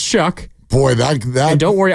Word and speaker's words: Shough: Spelled Shough, pronounced Shuck.